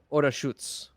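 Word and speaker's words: Orašac: Orasa, it's pronounced Orashutz. That's Serbian for you.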